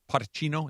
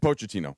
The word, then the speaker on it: Pochettino: And I I saw a quote by Pacino. Is that how you say it? Pochettino.